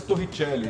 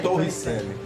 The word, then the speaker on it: Torricelli: Que é italiano, é o nome italiano, mas a escrita é como se fala, Torricelli. A pronúncia é Torricelli, né? Mas para facilitar, Torricelli.